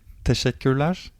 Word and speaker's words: teşekkürler: In Turkish, you say teşekkürler. Teşekkürler. So Mustafa. Of course, Mihail. How do we say in Hebrew? Actually, it sounds even a bit familiar to teşekkürler.